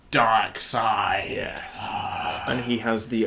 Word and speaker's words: Darkseid: I always used to think he was called Darkseid. Because they spell it S-I-E-D, I think. They spell it Sid. Yeah, so I thought it was like, oh, he's Darkseid. I think it's Darkseid. But it is Darkseid, yeah.